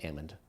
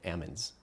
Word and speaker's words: almond: Like they are so high in the almond community that they don't have to pronounce the L. It's a silent L, the almonds.